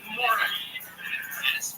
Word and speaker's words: Maurice: His name is spelled like Maurice Chevalier, that kind of Morris, M-A-U-R-I-C-E, but it was pronounced Morris. I guess it's a British thing.